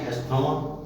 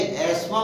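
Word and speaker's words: asthma: इसी प्रकार अस्थमा बोलते हैं, एस्मा को कुछ लोग ASTHAMA, अस्थमा, ASTHAMA अस्थमा बोलते हैं, जबकि ये एस्मा बोला जाता है, एस्मा माने दमा।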